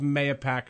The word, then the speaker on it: Mahopac: and the hamlet of MAYO-PAC, New York. Now I said it both ways. There you go. There you go. And you know what? You're correct either way, my friend.